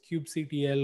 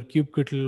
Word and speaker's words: kubectl: Then there's what is variously known as kubectl or kubectl or kubectl. I don't know which camp you might be in about how to pronounce it, but it's basically the Kubernetes command line utility.